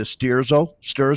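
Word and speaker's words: Sterzo: It's the Sturzo. What are you calling it, Nathan? How do you pronounce that? Sturzo, Elite Sturzo, the Elite Yep.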